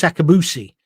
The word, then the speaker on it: Akabusi: uh what's his name not Chris Kamar Chris akabusi see there's me being racist two black people and I immediately got the name wrong I'm not racist it's just the way